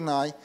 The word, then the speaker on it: Ngai: so her name just cry to make the pronunciation Rachael Nye Nye is a guangdong ha Cantonese and in